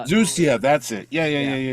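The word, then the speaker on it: Xusia: the evil sorcerer uh Sapphire I can never pronounce the name no it's uh it's zucia that's it yeah yeah yeah yeah so he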